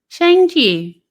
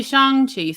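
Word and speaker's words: Shang-Chi: was kind of cool he said it a different way in the movie but it has it almost sounds like the way she ended up pronouncing it it must be shanghi something like that he's like yeah but my name is now so it's something that sounds close to right right so um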